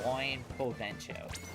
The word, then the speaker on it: buen provecho: Buon is pronounced like Buen. Oh, Buen Probatio. Buen Probatio. Damn, no! Close enough. Yeah. Buen Probatio. You got Chick-fil-A? Oh, Ben Probatio. Oh, I was about to say, try saying show to see if you pronounce it. Show. Or is it cho? Yeah, replace it with cho.